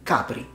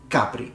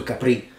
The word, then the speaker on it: Capri: French in this case in Italian we say Capri Capri so the stress is on the ah sound not at the end no one says hey let's go to Capri it's Capri once again since we